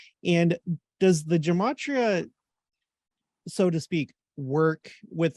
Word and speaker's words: gematria: gematria and does the gematria so to speak work with other languages or is it just viewed like in the hebrew context well first it's a hard g it's a matria if you can pull